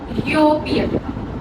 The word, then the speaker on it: European: It starts with U sound. U, European, right?